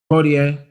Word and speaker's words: Poitier: But Betty White and Sidney, how do you pronounce the last name? Chris? Poitier.